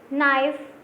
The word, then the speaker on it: knife: Knee, knife, not, no. So which is silent here? K. K is silent in every word.